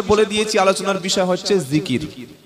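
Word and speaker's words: ذكر: উপরে বিষয়টা হচ্ছে আল্লাহর জিকির কি নাম বললাম জিকির জাল কাফ র তিনটি অক্ষরে একটা শব্দ জিকির বাংলায় থেকে হলে হবে অন্তর্য হস্ জিকর এটা বাংলায় আরবির উচ্চারণ আর অর্থ হলো আল্লাহর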